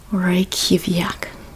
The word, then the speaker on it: Reykjavik: Reykjavik. Exactly pronounced that way, in fact, yes.